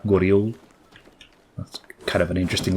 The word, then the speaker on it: Goryeo: That guy used the classical pronunciation for Korea, Goryeo.